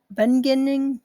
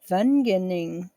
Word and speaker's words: Wageningen: Working with colleagues at Wageningen, no, Wageningen, Vag, Wageningen. Ugh. Let me try one more time. I think you pronounce W's like a V in German.